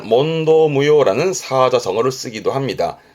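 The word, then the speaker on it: 問答: 발음은 몬도 이래서 어렵습니다. 여긴 땡땡 붙어요.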